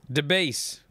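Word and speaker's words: DiBiase: How do you pronounce D-I-B-I-A-S-O? DeBase. DeBase? DeBase. That's how you pronounced it last week. I would have called it diabetes.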